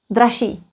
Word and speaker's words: dražší: Or, to be exact, because of regressive assimilation, ž becomes sh, and then that double sh is not pronounced as double sh, just one sh. Dražší, dražší, nejdražší.